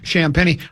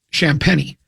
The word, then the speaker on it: Champenny: Champenny. I'll just have to think of Just think of the coin. The penny. Yeah. or or Penny Hardaway. Sham Penny.